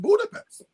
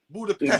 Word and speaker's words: Budapest: It's not pronounced Budapest. Yeah, no, I just learned that this week. No, What's it pronounced? Budapest. Budapest. Like Budapest? almost like SHT.